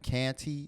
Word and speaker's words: Canty: You pronounce it Canty, Canty.